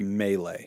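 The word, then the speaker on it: Mee-Lee: of the Asam criteria it's pronounced melee it's not um I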